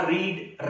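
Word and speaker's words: read: मैंने कहा रीड रेड रेड, spelling same रहती है लेकिन बोलने में रेड बोलते हैं।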